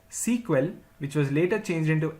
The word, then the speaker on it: SEQUEL: initially the language was known as Structured English query language pronounced as sequel which was later changed into SQL in the year 1978.